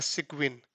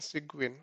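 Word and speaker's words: Cygwin: Server Unix box so I have installed a sequin application sequin so let me type it here segment this is how we pronounce it so you can install it on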